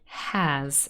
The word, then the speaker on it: has: her consonant sound has so we've got a vowel sound here it's quite wide open it's not the same as an uh as in friend it's has you have to open your mouth a little bit more has it's an e has and then the next